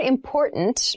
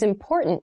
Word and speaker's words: important: pronunciation of this word that first t is actually reduced it sounds more like a d in fast speech water is important to our body water